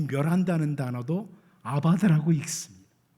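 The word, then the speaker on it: אבד: 이 멸한다는 단어도 아바드라고 읽습니다. 철자는 다른데 아바드라고 읽는 건 똑같아요.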